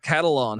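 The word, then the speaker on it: Catalon: safety Jalen uh uh cattle on how do I pronounce that like a catalog right yeah yep yeah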